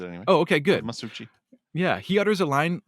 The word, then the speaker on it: Masucci: that's how he pronounces it anyway. Oh, okay, good. Masucci.